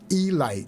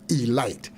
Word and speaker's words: Elite: catcher for the Baltimore Elite giant spell Elite pronounce e Light yeah you make those negro mad if you call them the elite Giants here's a young Campanella